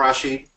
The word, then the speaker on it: Arrasjid: first here so my my name is Rashi as as you correctly pronounced um was I do have number one